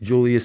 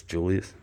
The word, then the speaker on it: Julius: don't know why but they pronounced it kind of like a y like a u Julius Julius Julius not